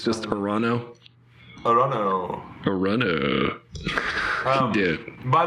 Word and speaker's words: Toronto: Toronto. They don't say this the second T for some reason.